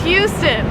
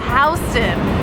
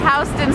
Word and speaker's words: Houston: Now, if you're from Texas, you might say, hey, that's Houston. Well, yeah, yeah, you're right, in Texas it is Houston, but here in New York we pronounce it Houston.